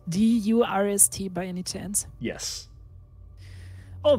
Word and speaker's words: Durst: is gustav thirst the word is pronounced durst and is the word for thirst well that's interesting oh